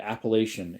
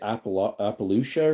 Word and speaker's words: Appalachian: Uh -8 is uh Russ's Appalachian Mountains. Where is that? Oh, it's back east. At least that's how I say it. Appalachian. It's pronounced a lot of people would say appalouchia or something like that.